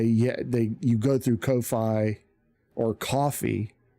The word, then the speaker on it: Ko-fi: Even if they're like giving them away, you go through Ko-Fi or Coffee. I've always pronounced it coffee, but I've heard it's pronounced Ko-Fi.